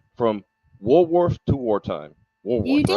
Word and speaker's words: Walworth: from, make sure I say this right, from Walworth to Wartime.